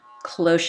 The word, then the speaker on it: cloche: it is pronounced cloche kind of like you would say it if you were back in junior high with your retainer in and trying to say close so we are going